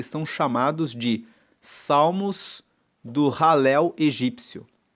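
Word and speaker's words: Halel: Ele faz parte de um conjunto de salmos que se chama ralel egípcio. Ralel se escreve H a l e l e ralel significa louvor.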